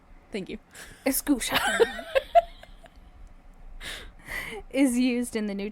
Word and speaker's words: exousia: The only time the word authority, or get ready for this pronunciation, exousia. Spell it. Exousia. Thank you. Exousia.